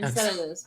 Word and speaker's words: Enceladus: I don't know how to pronounce Latin names. Endless for Saturn. Dead moon. Ah, Enceladus. Enceladus. Yeah, Enceladus.